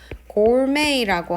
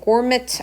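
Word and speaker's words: gourmet: 그 다음에는 음식하고 관련된 단어들 우리가 뭐가 나오냐면 여기에서 고르메이라고 하는 표현이 나옵니다. 그래서 발음이 선생님 고르메트 아닌가요? 라고 할 수도 있는데 이거는 프랑스에서 생겨난 말이에요.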